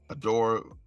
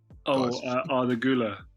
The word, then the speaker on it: Arda Güler: I did pronounce the guy, the Turkish player, Adore. Arda Güler.